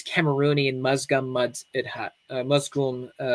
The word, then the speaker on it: Musgum: and musgum muds Hut musom mud Huts is how you it's closer the pronunciation I probably butchered it but the these